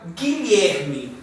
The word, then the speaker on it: Guilherme: Gui, eu estou pronunciando o G e o I. O U, por ser uma semivogal que a gente já viu, ele não vai ter som aqui, ó. Gui. Eu não pronuncio esse U.